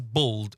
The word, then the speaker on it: bold: He's bold and he's bold. It sounds the same. But in American it's like it's bald and bold. So there's a a and a o bald and bold.